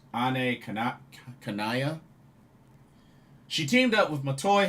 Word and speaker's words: Ane Kanaya: Had a tag match with a team of Anne Kanaya, which apparently they pronounce her name as Ane Kanaya.